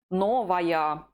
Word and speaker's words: новая: Новая. Новая. Can you note the difference between the masculine and feminine forms? The he form finishes with y. The feminine form finishes with aya.